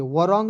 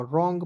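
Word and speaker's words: wrong: एनज रंग अब देखिए डब्लू के यहां पर साइलेंट करेंगे वरंग नहीं पढ़ लीजिएगा रंग पढ़ा जाएगा क्या पढ़ेंगे दोस्तों रंग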